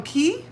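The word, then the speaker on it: caye: from key. Steve, you're from key. What key? Did you mean to say kao or did you mean to say ki? What key? San Pedro. I know it's a bleian key because it's spelled C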